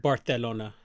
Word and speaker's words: Barcelona: guess we'll order the Rings in Barcelona it's pronounced Barcelona also do you know how much a round-trip